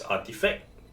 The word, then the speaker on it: RTFKT: RTFKT, pronounced as Artifact, has been playing with Nike shoes for a few years already.